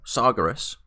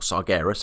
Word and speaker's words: Sargeras: We've put Argus the Unmaker down, and we've helped the Pantheon of Titans to recall Sargeras, or Sargeras, however you want to pronounce it, back to the seat of the Pantheon, where he's now trapped, supposedly, for all eternity.